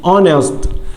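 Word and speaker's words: honest: اونست اونست اونست صادق اونست هنا الحرف الاتش اهو حرف ساكن ولكن بتيجي مع ان ان ليه لان انا منطقتش الحرف الساكن ده انا بدات بالاو ان اونست ان اونست يبقى القاعده بتاعتنا لو الكلمه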